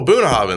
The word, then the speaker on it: Bunnahabhain: know it's like uh then they show you and then first thing you're like well shoot oh boonehaven they're like oh that's how you say it and then you're like